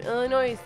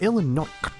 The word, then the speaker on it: Illinois: all the way from Illinois today you said it wrong again it's Illinois Illinois it's not illinois' we're not any Sandburg noise okay we don't do that noise Illinois's no we we